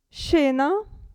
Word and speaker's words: scena: né qui abbiamo il gruppo sce che si pronuncia She She scena e provate scendere è un verbo scendere il gruppo sci si pronuncia S sciarpa sciarpa e qui cuscino cuscino Dunque scena scendere sciarpa e cuscino